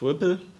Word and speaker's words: RPL: And there exists one candidate, RPL, it's pronounced Ripple.